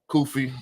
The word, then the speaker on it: Kufi: special guest with me today um I got kofy did I pronounce that right yes sir you did gotta